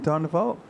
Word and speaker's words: Van der Waal: How do you pronounce his name? Well, Dean Van der Waal?